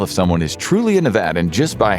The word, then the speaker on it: Nevada: Fun fact, you can tell if someone is truly a Nevadan just by how they say the state's name. Locals stress the VAD in Nevada, meanwhile out-of-staters go for the VA.